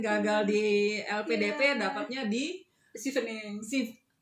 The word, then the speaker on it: Chevening: Sama seperti cerita teman kita kemarin gagal di LPDP, dapatnya di Chevening. Bacanya Chevening. Oh, Chevening. Chevening ternyata.